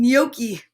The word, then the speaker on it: gnocchi: that g is for gnocchi the gnome yells what waiter there's a bright white net nibbling at my gnocchi see that g is silent a gnome gnat and gnocchi that is a very